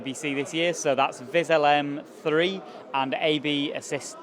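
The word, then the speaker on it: VisLM 3: game-changing new features in viz lm3 versus viz lm2 am I saying that right you are you are saying it right so um the main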